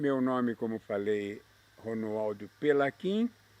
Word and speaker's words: Pelaquin: como falei ronoaldo pelaquin e em italiano se escreve pela quem com CH e no Brasil se pronunciaria pela xin para não se pronunciar pela assim meu pai é português o meu nome com q u i n muito bem quanto é